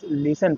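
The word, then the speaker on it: listen: एल आई एस टी इ एन तो वहां पे टी साइलेंट है। टी को नहीं पढ़ना। लिसन नहीं पढ़ना। जस्ट लिसन पढ़ना है।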